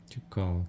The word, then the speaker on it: Tuchel: 우리나라에서는 투엘 감독을 투헬이라고 하잖아요. 근데 영국에서는 전혀 다른 발음인 거예요. 그래서 제가 투엘 감독이라고 했더니 로스가 못 알아들었어. 투엘이 아니라 투코? 토마스 투커. 토마스 투커. 발음이 완전 달라. 토마스 투컬이래요.